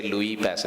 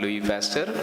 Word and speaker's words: Louis Pasteur: So it is not Louis Pasteur. You should say Louis Pasteur because of the French term, the last syllable doesn't always come.